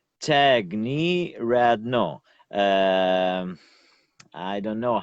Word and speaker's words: Tiagniryadno: explain to you but tag like someone knee yeah me like like your knee on your leg and rad no I don't know the the same words but tag knee rad no acne Radner yes you